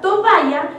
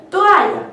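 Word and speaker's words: toalla: de manera errónea como por ejemplo la palabra tovaya que en realidad se dice toaya pero la gente cree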